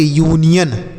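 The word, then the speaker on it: union: देखिए, जैसे यू के बाद एन लिखने के बाद आई लिखा है तो आई एक वावेल है तो यू का उच्चारण यू, तो इसे हम पढ़ेंगे यू, एन से न, आई से छोटी की मात्रा, या ओ से ओ एन से पढ़ेंगे यन, तो यह पढ़ेंगे यूनियन।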